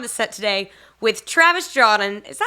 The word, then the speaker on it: Jaudon: I mean, I've heard Jordan before, which to me is like the worst because it's spelled nothing like Jordan. There's no R. Right. There's a lot of like questionable pronunciations, but it's Jaudon.